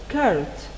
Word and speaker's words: carrot: dolls the next word is the word carrot carrot as you see this word has double or and you should pronounce it like only one or carrot it's